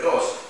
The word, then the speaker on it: ghost: printing press, he took the Middle English word ghost, G-O-S-T, but he spelled it with a silent H.